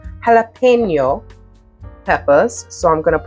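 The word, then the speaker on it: jalapeño: I have some jalapeno, let me pronounce it like I'm Espanol, jalapeno peppers.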